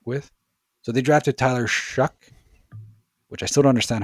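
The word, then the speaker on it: Shough: So, they drafted Tyler Shuck, which I still don't understand how that's how you pronounce his name when it's written that way. So Tyler Shuck as uh a fourth round quarterback I want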